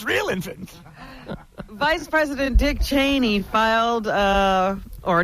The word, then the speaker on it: Cheney: I asked him, I said, "What is it, Cheney or Cheney?" He said, "Son, it's Cheney."